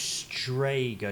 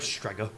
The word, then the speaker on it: Strega: I believe pronounced Strega, not Strega.